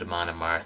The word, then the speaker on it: Amon Amarth: Gods by Eamonn Amarth no I'm not going to pronounce it a monomart no matter how many people Badger me if I were to pronounce it as a monomers on a regular basis I would probably want to cut my tongue out because that pronunciation is absolutely painful for me to say I don't really care